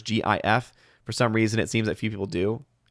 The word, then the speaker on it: GIF: Hardwick says, I pronounce GIF as the individual levers GIF.